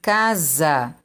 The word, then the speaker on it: casa: olha mais um exemplo casa som de z mas se escreve com s olha mais um exemplo